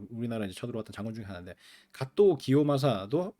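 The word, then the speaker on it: 加藤清正: 쳐들어왔던 장군 중에 하데 가또 기요마사 한자로 써 가지고 우리 식으로 읽으면 가등청정 이거든 가청 그래서 옛날 사람들은 국사 같은 거 배우고 할 때 그런 으로 많이 공부를 했어요 그니까 한자로 살아놓고 일본 발음으로 발음을 해 주는게 아니라 우리식 한자로 읽었다고 그다음에 어 이또 히로부미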